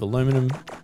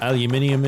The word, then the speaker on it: aluminium: So picking up a little bit of aluminum, or aluminium if you're pronouncing it correctly.